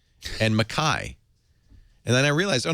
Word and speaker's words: Mackay: But I was told several times, no, it's pronounced Cairns and Mackay.